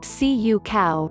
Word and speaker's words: cacao: in our Afghan biscuits cacao pronounced Cu cow refers to the Theobroma